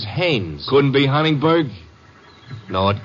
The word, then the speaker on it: Haines: ah oh yeah well as your fellow named heinz used to fish no no not heinz haynes couldn't be hummingbird no